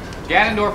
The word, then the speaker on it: Ganondorf: it got him kick I would like to say Fannin but that doesn't exactly work no it's Canon Ganondorf is Canon oh my